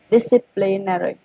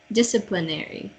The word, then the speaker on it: disciplinary: Disciplinary. Don't put another emphasis on nary. Disciplinary. Disciplinary. Yeah, good. No more emphasis on the nary.